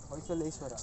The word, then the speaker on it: Hoysaleshwara: Hoysaleshwara. Yeah, he pronounced that right.